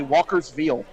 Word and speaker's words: Walkersville: You say Walkersville. It's not Ville. Walkersville. That's a Baltimore thing.